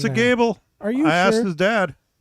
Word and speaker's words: Goebel: Gable. Are you I sure? asked his dad. It's Gable. Gable. Not He said just Gobble.